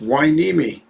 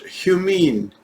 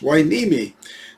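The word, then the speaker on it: Hueneme: correctly i live in a city called port wai nimi wai nimi is spelled h-u-e-n-e-m-e i can't tell you how many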